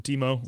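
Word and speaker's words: Temu: So, he also was talking about there's a bunch of Chinese knockoffs that you can find on on Teemo Teemo, what how do you pronounce that thing?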